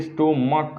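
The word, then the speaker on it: stomach: अगर क आता है, मान लीजिए मैंने यहाँ पर एग्जाम्पल लिखा स्टोमक, तो देखिए स्टोमक, इसको क्या पढ़ते हैं, क पढ़ते हैं, क होता है, और जब क आ जाए उच्चारण इसका प्रोनाउंसिएशन तो सिर्फ एस ऐड करते हैं, स्टोमक्स।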